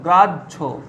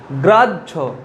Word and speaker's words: গ্রাহ্য: গ্রাহ্য দেখো কি উচ্চারণ হচ্ছে হয়ের, এখানে কিন্তু হয়ের কোনো উচ্চারণ নেই, গ্রাহ্য, কিন্তু বানানের সময় কি লিখতে হবে গ্রাহ্য।